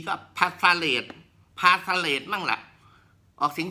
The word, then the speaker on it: phthalate: SA สี เล็บ EE PS ไม่ ออก เสียง ครับ อ่าน ว่า ฟาเรด ส มี เสลด หา